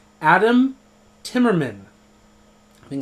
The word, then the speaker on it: Adam: the simple and Adam I always say add in with an N Adam Timmerman I think it's because my tongue wants to jump to the very end of Timmerman and says Adam Tim remember right I